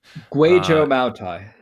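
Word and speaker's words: Kweichow Moutai: And this is, I'm going to butcher the pronunciation, but Guaichao Mutai Flying Fairy. Guaichao Mutai.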